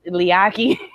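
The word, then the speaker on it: Leati: It's not spelled like Leaky. And there's a T in there. Oh, I don't know. Yeah. Yeah. Moans pronounce their T's, but his first name is Liaki.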